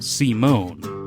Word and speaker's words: Simon: introduced the villain Simon Simon Legree pronounced C Mon but I'm just going to call him Simon he's a used slave